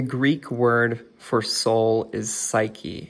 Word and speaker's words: psyche: And the Greek word for soul is psyche. It's pronounced suhee.